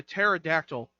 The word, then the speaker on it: pterodactyl: And the pterodactyl. The P is silent.